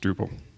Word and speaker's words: Drupal: of connecting people and they spelled drop instead so now we have dropped that's pronounced Drupal important about again open